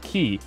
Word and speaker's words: Quay: here's our dishes - Quay is pronounced key oh ok cool thanks